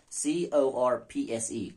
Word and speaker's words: corpse: I sound like corpse. Core. Horse and worse. See, C-O-R-P-S-E, corpse. C-O-R-P-S, core. H-O-R-S-E, horse. W-O-R-S-E, worse. So W-O-R-S-E, it rhymes with V-E-R-S-E, like.